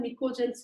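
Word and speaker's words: pnictogens: ठीक है, और इसे हम कॉमन निकोजेंस भी बोलते हैं। पी यहाँ पे साइलेंट है बेटा, निकोजेंस मतलब कुछ पॉइजनस गैसेस इससे बनती है।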